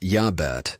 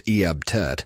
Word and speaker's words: Iabet: Pronounced Yabet or sometimes Eabt.